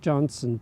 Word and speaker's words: Johnston: the next county over, Johnston County. Now, Johnston County is spelled with a T, but the locals don't pronounce the T.